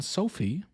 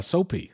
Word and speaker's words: Soapie: He's expected to marry a woman, Sophie or uh Soapie, excuse me, pronounced Soapie.